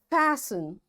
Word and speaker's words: fasten: Fasten, castle or castle, often, whistle, soften, hasten, bustle, and gourmet. There are different words, but in all these words, T is silent.